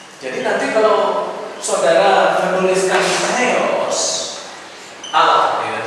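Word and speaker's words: θεός: nanti kalau saudara menuliskan theos Allah ya theos pakai Teta teos tapi kalau kita membaca seolah-olah dia gak ada h-nya teos Tapi harusnya itu pakai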